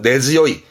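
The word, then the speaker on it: 根強い: 전통 문화라 그가 뿌리깊은 전통문 할 때 그죠 네즈 요이 네즈 요이 분가 번 쓰겠죠 요건 웃깁니다 봐봐요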